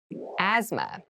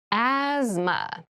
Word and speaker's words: asthma: for example deep cavity deep cavity deep cavity asthma asthma Asma so this word has very interesting spelling there's